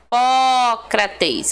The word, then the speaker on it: Hipócrates: proparoxítonas certinho né três porque o pó recebe o acento tá vendo a sílaba tônica ela é a antepenúltima sílaba tá então você tem